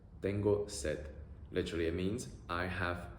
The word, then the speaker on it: tengo sed: And in a similar fashion, if you want to say I'm thirsty, you can say tengo sed, tengo sed. Literally it means I have thirst. E-o-e, E-o-e, tengo sed, tengo sed.